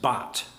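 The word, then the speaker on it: Barth: Last name is spelled B A T, but it's actually pronounced Bart because he's Swiss. And Carl Bart wrote many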